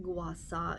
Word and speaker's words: gua sha: the bruising or the shaw guasa is actually pronounced guasa it means to scrape the sand this is